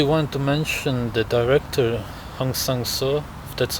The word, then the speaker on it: Hong Sang-soo: part because actually want to mention the director Hong sang-soo that's how you pronounce it and Eric Rome or another director